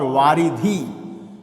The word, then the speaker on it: वारिधि: और वारिधि कहते हैं समुद्र को। अब इन दोनों में ही थोड़ा सा अंतर आता है उच्चारण में, वारिध और वारिधि में। तो वारिधि समुद्र के लिए, वारिध बादल के लिए।